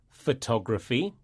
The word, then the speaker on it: photography: When we say adjectives that end with IC, the stress falls on the penultimate syllable.